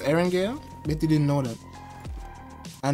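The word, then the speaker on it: Erangel: in iran iran yeah aaron gail you know what's pronounced eren gale betty didn't know that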